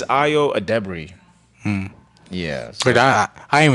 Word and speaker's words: Ayo Edebiri: You know, how we used to say Ayo Edebiri. Yeah. It's not. That's not how you say it. I finally watched an interview about hers with her and Conan. It's Ayo Edebiri.